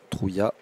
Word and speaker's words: Trouillas: Jean Trouillat, ou Trouillas, hein, nous a confirmé qu'on pouvait lire les deux. Hier j'ai plus dit Trouillas, aujourd'hui on est plus sur Trouillat.